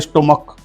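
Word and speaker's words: stomach: यहां एक शब्द आता है स्टमक एस टी ओ एम ए सी एच। अब यहां सी एच का जो उच्चारण होता है च न के क हो रहा है स्टमक।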